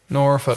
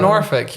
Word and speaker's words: Norfolk: then I was like, "See, as a Norfick folk singer, I'm feeling comfortable with this." But if you were from Norfick, you would go around and you say, "I'm a folk singer."